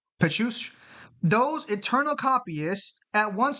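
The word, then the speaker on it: Pécuchet: there is a name there, I just can't pronounce it. It's Pechush. Pechush.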